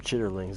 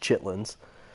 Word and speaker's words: chitterlings: Is the correct pronunciation, but usually pronounced chitlins, is small intestine.